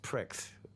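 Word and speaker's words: Prix: name he wanted to call us the pre pronounced Pricks p r IX that's what he meant the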